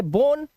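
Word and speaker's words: bone: तो ऐसे वर्ड में ओ का जो उच्चारण होगा वो ओ होगा। तो इसे पढ़ेंगे बोन।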